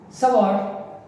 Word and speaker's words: Savart: Okay, this is Bio, it rhymes with Leo, and this Savart rhymes with bazaar.